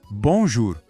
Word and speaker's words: bonjour: Pensa assim, você vai falar bom, mas não feche a boca no final. Deixa o som sair pelo nariz. Ó, bom. A segunda parte é jur. O J aqui tem o som do nosso J de janela, bem tranquilo. E o ar soa como ur. Então, jur. Juntando tudo agora bem devagar. Bom, jur, bonjour. Pegou?